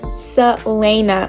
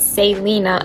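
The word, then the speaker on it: Celaena: I just discovered that I've still been saying her name wrong it's Selena and not Salina and now I'm really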